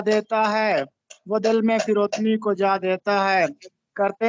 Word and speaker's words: فروتنی: لفظ استعمال ہوا ہے فروتنی، درست تلفظ ہے فروتنی، فے کے نیچے زیر لگا ہے، اس کا مطلب ہوتا